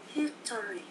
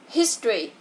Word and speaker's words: history: History. Nào. History. Chữ này không có đọc là history nha. Từ này là history.